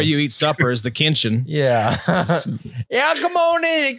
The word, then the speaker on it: Kinchens: It kind of sounds like a kid mispronouncing Kitchens. It's pretty cool, man. Get your Kinch. Sounds like a country. It's like where you eat supper is the Kinchen.